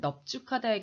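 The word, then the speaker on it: 넓죽하다: 그렇지만 넙죽하다의 경우만 뒷자음으로 발음해.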